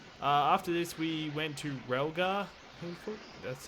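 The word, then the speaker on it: Rilgar: After this, we went to Relgar, that's how you say it, for the first hoverboard race of the game.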